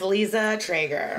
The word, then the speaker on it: Liza Treyger: So, I saw you, for the record, could you please pronounce your name? Yeah, it's Liza Treyger.